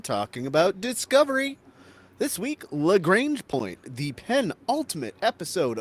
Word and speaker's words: Lagrange: I'm and it's it's pronounced lrange Point okay I'm primar Scott of